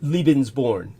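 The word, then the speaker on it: Lebensborn: you pronounce it uh leben's born uh leens means life uh l e b NS and born just like born somebody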